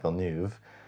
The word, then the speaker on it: Villeneuve: got to remember to say it like that, Villeneuve, about directing the adaptation, and very quickly hired